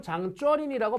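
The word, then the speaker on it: 張作霖: 장장님은 장쩌린이라고 발음합니다. 장쩌린.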